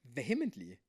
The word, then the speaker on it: vehemently: Never heard anyone pronounce vermently like that. vehemently.